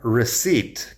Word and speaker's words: receipt: No confundas recipe con receipt, que es otra palabra. También la pronunciación ahí, receipt, la P no suena como si nada.